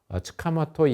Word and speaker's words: 塚本: 총번정, 일본 발음으로 츠카모토 야스시라고 하는 사람이 이름이 보이니까 저 사람이 서울역의 설계자구나 라고 이제 생각을 했습니다.